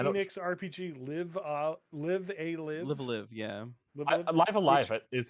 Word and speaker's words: Live A Live: Enix RPG Live a Live. Live, yeah. Live Live is how they pronounced it in the Live direct.